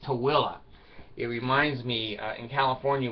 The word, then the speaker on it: Tooele: Now, there's a word that's spelled Tooele. Utah. It's pronounced Tooele.